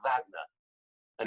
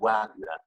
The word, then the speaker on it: Wagner: season Palmerston told me I was pronouncing David Wagner's name wrongly because I was calling David Adler he's me no no no you know he's got American ancestry so in his David Wagner the next time Paul